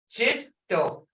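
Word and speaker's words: cetto: Ido versus jitto. Ido is tree or wood. Jitto, snake. Jitto.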